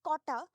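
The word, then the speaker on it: Cotta: called Kota area so they spell it as c-o-t-t-a which is Kota the over the origin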